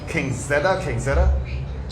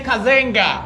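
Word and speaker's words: Cazenga: I'm probably saying the name wrong. King Zeta.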